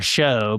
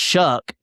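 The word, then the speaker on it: Shough: I think that I say his name is Tyler Show, but apparently it's supposed to be pronounced Shuck, even though there's no C or K in there.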